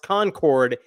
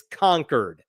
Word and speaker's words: Concord: I was told, by the way, it's not pronounced Concord, it's Concord, and that's the way the locals say it. So in Concord, where the Capitol is, there was a nativity.